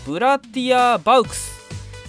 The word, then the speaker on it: Bratia Bauks: the、これはですね、ブラティアバウクスと読むようですね。